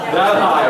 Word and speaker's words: Delhi: How do you pronounce it? Delhi? That high, right? But it's spelled Delhi, right?